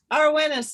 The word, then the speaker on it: Eirwenes: Arwenis is how I pronounce it. Actually, I can almost say it with a Welsh accent, but I can hear